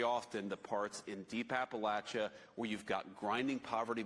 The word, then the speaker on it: Appalachia: who settled in Appalachia, I say Appalachia. I'm from Northeastern Ohio and JD is from central Ohio. So, uh, the vice president pronounces it differently than I do, but it we know